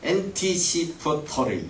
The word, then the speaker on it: anticipatory: 현대인들이 가장 정신적으로 걸리기 쉬운 병이 영어로 anticipatory, 발음이 좀 어려워요. anticipatory 이렇게 끊어서 해야 돼요.